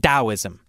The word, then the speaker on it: Taoism: Why didn't we just spell it with a D?